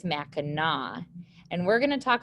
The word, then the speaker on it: Mackinac: island and mackinac island i know it looks like it says mackinac but the correct way to pronounce that is mackinaw and we're going to